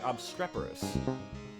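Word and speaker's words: obstreperous: How do you pronounce obstreporus? You pronounce it like obstreporus. He's going to butcher this. You see that there are several obstreporous dwarves encompassing a cluttered and tattered round table.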